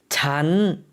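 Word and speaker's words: ฉัน: 잔 성조가 달라졌죠. 4성에서 3성으로 변했습니다.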